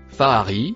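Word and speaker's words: فأرى: Le premier mot qui se prononce Faari a été falsifié.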